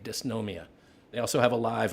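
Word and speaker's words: Dysnomia: It's called Disnomia. D Y S N O M I A. Disnomia.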